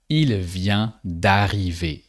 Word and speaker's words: d'arriver: starts with a vowel, that de turns into d apostrophe. And you say d'arriver. That's the little subtlety that you have with words that start with a vowel.